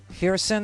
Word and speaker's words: Kherson: Kherson, the K is silent.